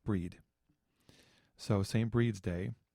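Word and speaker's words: Brigid: Her name is pronounced Breed.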